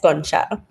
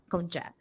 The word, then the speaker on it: Concha: Today, I'm here with two beautiful special guests, Sierra Lyons and Concha. Am I pronouncing that correctly? Yes, Concha. Concha.